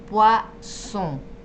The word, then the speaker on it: poisson: Bien, veneno, poison, poison. Y pescado es poisson, sonido de S, poisson.